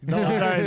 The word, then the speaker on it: Doherty: How do you say it, Doherty? Doing the true Irish accent. Doherty. Doherty, there you go.